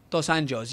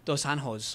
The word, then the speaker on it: dos Anjos: a new lightweight champion in the UFC Rafael dos angos yes I looked up the pronunciation of that word because I would say Raphael dosan hos or some other disgraceful like pronunciation of it